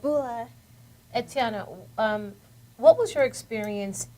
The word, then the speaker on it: bula: It's called bula, and it basically means hello. How are you? So How you say it everybody- again? Bula. Bula. It's B-U-L-A, bula, and everybody screams at